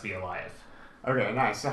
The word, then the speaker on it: Bielajew: like that but the the J sounds like Y and if the W